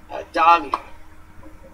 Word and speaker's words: Dahvie: I how do you say my middle name Davi it's not D A lot of people say Dave I just it's like put in my dick